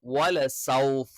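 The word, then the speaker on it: وَلَسَوْفَ: സ നാവിന്റെ കൂർത്ത അറ്റം എന്ത് ചെയ്യുന്നു? രണ്ട് വരി മുൻപല്ലുകൾക്കിടയിൽ വെക്കുന്നു. വലസൗഫ, സ സ. തായും സായും ഉച്ചരിക്കുന്ന സമയത്ത് നാവിന്റെ മധ്യഭാഗം താഴ്ന്നു നിൽക്കണം. സ്വ ഉച്ചരിക്കുന്ന സമയത്ത് മാത്രം നാവിന്റെ മധ്യഭാഗം ഉയർന്നു നിൽക്കണം.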